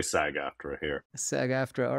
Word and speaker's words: SAG-AFTRA: We say SAG-AFTRA here.